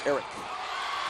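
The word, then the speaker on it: Arick: It's spelled A-R-I-C-K, but you pronounce it Eric.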